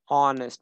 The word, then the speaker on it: honest: My father is an honest because H is silent.